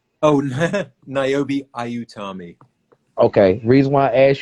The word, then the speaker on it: Niobe Ayutami: Um, First, I want to ask you because I don't want to mispronounce. What's Niobe's whole name? Oh, Niobe Ayutami.